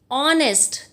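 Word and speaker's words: honest: पे क्या है बेटे, H जो है ना वो यहाँ पे साइलेंट है बेटे, H नहीं है। आगे देखिए, ऑनेस्ट, ईमानदार होता है ना, ईमानदार, ऑनेस्ट, यहाँ पे H है लेकिन H की साउंड नहीं है, H साइलेंट है। We pronounce it like ऑनेस्ट, एन ऑनेस्ट।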